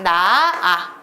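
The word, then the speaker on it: 낳아: 단어도 있잖아요 나아 싸 분명히 히 받침이 있는데이 히읗이 발음되지 않고 각각 나아 싸아 이렇게 히읗이 없어지고 있다는 거 보이시나요 이런게 히읗 탈락입니다 리을 탈락은 리을이 끝소리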